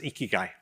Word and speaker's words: Ikigai: I'm not gonna put you on the spot, but my understanding is that this Japanese word literally is pronounced Ikigai and it literally means reason for being.